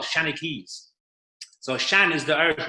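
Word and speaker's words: seanchaí: And they seem, another word I've come across is Senachai. Did I pronounce that correctly? The Shanachie. Shanachie. Okay. Shanachie, yes.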